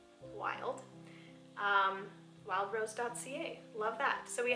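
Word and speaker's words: Wylde: Wild is spelled W-Y-L-D-E, wild, wildrose.ca.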